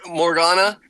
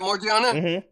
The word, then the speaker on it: Morgiana: as you continue to read oh yeah yeah Morgana uh yeah no I think it's not that she said it right Morgan yeah yes is it morgiana yes Mariana okay okay yeah she's done I